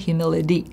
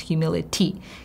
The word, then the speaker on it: humility: Interesting enough, the whole word of humility, and hear how I pronounce it, humility, not humility, because it's two vowel sounds, humility.